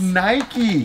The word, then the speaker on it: Nike: complaints from people saying you're saying it wrong it's not no it's not you're on a soapbox that's nike okay that's how it is